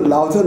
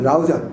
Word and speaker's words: রাউজান: এই হাটেজারে থেকে থাকতো লাউজান লাউজান করে, কিন্তু লাউজান না রাউজান, লাঙ্গুনিয়া লাঙ্গুনিয়া করে থাকে